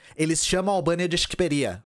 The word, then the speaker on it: Shqipëria: Eu só sei como se pronuncia isso porque eu vi o Enver Hoxha falando e ele fala Shqiperia. E albanês em albanês é Shqiptar. Então, desde o século 17, eles chamam a Albânia de Shqiperia.